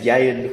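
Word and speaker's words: Ieuan: hey brother ah so my name is jayden uh nothing like how it uh looks or sounds so yeah i-e-u-a-n uh for now it's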